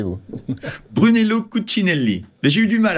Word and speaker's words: Brunello Cucinelli: le titre de brun brunellment comment vous le prononcez vous Brunello cuccinelli mais j'ai eu du mal à la prononcer